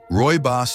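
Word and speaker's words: Rooibos: Roy Boss tea, pronounced Roy Boss, may not be as well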